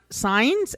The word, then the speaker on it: Saenz: the name of kimberly it's pronounced signs s-a-e-n-z and i only learned